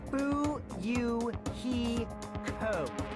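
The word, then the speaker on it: Fuyuhiko: My first name is pronounced Boo, You, He, Ko.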